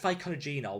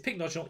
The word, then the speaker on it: Pycnogenol: spelt it right i used to call it ficonogenol which added about nine ver nine um vowels to that but never mind i prefer my old pronunciation but it's pink nodule you did spell it right and you can